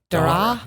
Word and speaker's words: Daragh: Daragh.